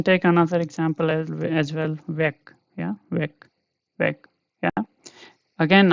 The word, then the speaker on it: Weg: another example as well, weg. Yeah, weg, weg. Yeah, again I'm telling this gay is at the end, so don't read it as weg. Okay, weg.